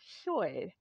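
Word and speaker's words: Llwyd: name short you might see it anglicized as Lloyd but it's pronounced Choi now we're going to ask some questions here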